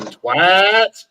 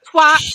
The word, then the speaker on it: twat: Always twat, it's never twat. Well done. You finally listened. There's always a hard A.